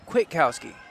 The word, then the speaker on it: Kwiatkowski: It's Kwiatkowski. The A is silent.